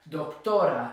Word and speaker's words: doctora: So la doctora, doctora, it ends in a vowel, so it's the second to last syllable that gets stressed.